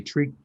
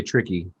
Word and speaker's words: Triqui: And this is actually this blend tonight, the Triqui Traca. I cannot say it. I can't want to say tricky. That's Triqui.